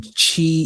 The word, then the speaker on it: qi: And then Chi equals MC square, just like it sounds. It's spelled with a Q. Okay. QI.